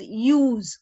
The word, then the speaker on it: ewes: So here use, EWES, is pronounced as use.